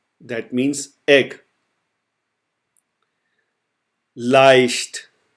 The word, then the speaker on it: leicht: So now we will apply this pronunciation to the following words. So the first one is I. I. That means egg. Leicht. Leicht.